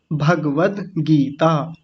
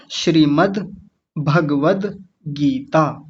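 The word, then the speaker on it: श्रीमद्भगवद्गीता: गीता तीनों को जोड़िए श्रीमद् भगवत गीता ऐसे बोलेंगे कुछ लोग भागवत गीता कहते हैं भागवत गीता नहीं होता भागवत एक अलग शास्त्र है एक अलग ग्रंथ है इसी को कई बार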